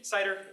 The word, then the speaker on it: Seiter: Super excited to have Professor Scott Cameron here today and Ian Seiter. All right on that pronunciation?